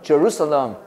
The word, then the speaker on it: Jerusalem: Jerusalem. 렘인데 럼이 럼. Jeru. Jeru 봤죠? 어발음이야. 어발음. Jerusalem.